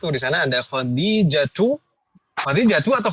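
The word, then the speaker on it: خديجة: Nomor 1 di sana ada khadijatu atau khadijatun bacanya Ibu? Khadijatu. Kenapa nggak boleh tanwin? Karena Mu'annas. Al-alam al-mu'annas. Ahsantunna. Jadi al-alam al-mu'annas, nama mu'annas tidak boleh tanwin.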